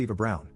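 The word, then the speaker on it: Eva Braun: of the historical figure Eva Brun which is pronounced Eva Brown the wife of the person who started World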